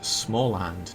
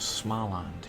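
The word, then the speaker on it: Småland: It's pronounced smalland, not small land, Jake.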